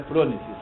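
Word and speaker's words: phronesis: né ela não cria é frones ou fronesis fronesis tá é eu que de vez em quando erro né mas é fronesis o nome a pronúncia é certo qualidade ional para a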